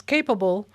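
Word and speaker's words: Cap_able: Capable, but it's spelled CAP for cap and then underscore and then able.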